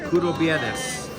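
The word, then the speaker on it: κουραμπιέδες: Curo Viernes.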